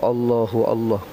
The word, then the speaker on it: Allahu Allah: bacaan asma nama Allah cara baca dia mesti hidup sa mati sa dalil dia hadis riwayat Imam Muslim.